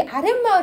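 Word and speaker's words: 아랫마을: 근데 우리 아랫 마을 한번 볼게요. 아래에다가 마을을 합했어. 그럼 이것도 고유어 플러스 고유어야. 근데 우리 아래 마을 아래 마을 발음할 때 어떻게 발음하냐면 아랫 마을이라 그러거든. 니은이 첨가가 돼.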